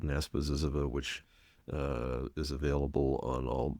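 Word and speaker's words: Zyzzyva: there's a tool there's a word study and word lookup tool called Ziziva. I pronounce this the American way because it takes too long to say it both ways. ZizzYva, which its slogan is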